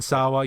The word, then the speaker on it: Sawa: Devon Sawa, I believe. Yeah, Devon Sawa. You see, most notably of Final Destination. Yes. Right. Right. Right. uh you see Devon Sawa and and they you know he is Casper.